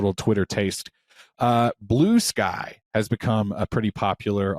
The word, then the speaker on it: Bluesky: I didn't even realize I was saying it wrong until she looked at me funny, and I said, "Oh, it's Bluesky," and she goes, "Yeah, it's Bluesky."